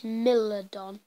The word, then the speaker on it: Smilodon: How do you pronounce this? Smilodon.